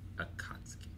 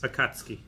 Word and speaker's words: Akatsuki: Akatsuki.